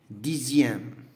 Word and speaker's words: dixième: Alors, on a le son X, ça se prononce Z, qui est Z.